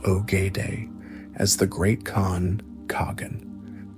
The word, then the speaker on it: Ogedei: pivotal decision to name his third son Ogedei, pronounced Ogedei, as the Great Khan Kagan, the supreme ruler of the entire empire.